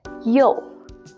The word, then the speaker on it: 又: This is pronounced as 又.